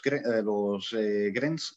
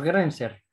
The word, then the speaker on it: Grenzer: Y también, por ejemplo, por otro lado, tiene a los Grens, ¿no? No sé si se pronuncia así, vamos, Los que es Grenzer. Perdón, Los Grenzer. Grenser.